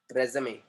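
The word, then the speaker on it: résumé: सो आर के बाद में आएगा ई, रेज्यूमे। ये जो उसके ऊपर लगा है ई के ऊपर, इसको बोलते हैं एक्यूट एक्सेंट। इसका जो साउंड है वो हो जाता है ए, रे ज मे, रे ज मे, रे ज मे।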